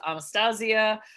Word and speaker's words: Anastasia: Although I will say proper pronunciation of that name is Anastasia.